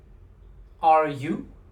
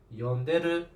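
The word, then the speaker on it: 呼んでる: See how I just changed the stress of the syllables? It changes the meaning.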